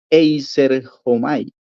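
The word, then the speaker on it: εἰσέρχομαι: Ese es numeral 1525 y la pronunciación de la palabra es Eiserhomai.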